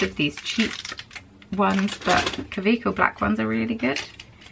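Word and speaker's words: Kaweco: I use the Kaveco ink cartridges. I also have loads of these cheap ones, but Kaveco black ones are really good. They're a German brand, hence the weird pronunciation.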